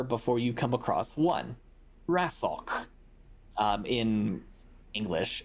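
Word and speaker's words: Rasocc: that you remember before you come across one wrestle in English it's spelled r-a-s-o-c-c um it translates to random and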